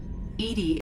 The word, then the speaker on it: EDI: are you named Ed Ed is the phonetic pronunciation of Eed that is an acronym